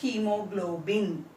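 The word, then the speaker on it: haemoglobin: H-A-E-M-O, hemoglobin, G-L-O-B-I-N. What is this pronunciation of this word? Hemoglobin. H-A-E-M-O, hemoglobin, G-L-O-B-I-N, hemoglobin.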